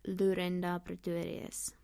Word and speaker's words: Lorinda Pretorius: So if you want to properly pronounce my name and surname, you should say Lorinda Pretorius. Yes, it's fun. There's a lot of r in my language.